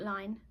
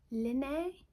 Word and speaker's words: Line: It's not line, because I pronounce this Linné. I can't remember, somebody did tell me that I did pronounce it right, but typically British